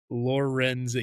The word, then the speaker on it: Lorenzen: Spelled like that, Lorenzen? Lorenzen.